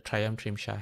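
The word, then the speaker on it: Trāyastriṃśa: Okay, that's the Trayamtrimsha heaven. I'm pronouncing it in the Sanskrit way. Tamamtimsa is the Pali spelling.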